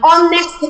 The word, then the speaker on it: honest: An honor, an hour, an honest man. So you realize that the H here is silent. The H sound is silent.